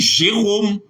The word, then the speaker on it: Jérôme: B dit parce que règle dit en français lorsque le E n'est pas surmonté de N conflexe ça se prononce comme E c'est parole c'est idole mais on dit Jérôme on dit on dit Jérôme on dit diplôme on dit rôle les o pas chapeau